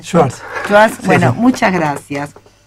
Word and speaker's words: Schwartz: ¿Cómo se pronuncia? Schwartz.